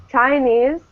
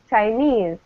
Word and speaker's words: Chinese: Because the stress is on the second syllable. Yeah, absolutely. It's on the second syllable, right? We don't say Chinese. We say Chinese.